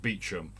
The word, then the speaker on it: Beauchamp: we've had kid worth beauchamp which is pronounced beechum we've had grubby pronounced